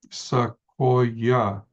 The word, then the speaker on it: Sequoyah: Sequoyah is 3 syllables.